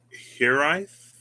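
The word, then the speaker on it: hiraeth: t h it's pronounced here rife roll the r and it's a welsh word it has no exact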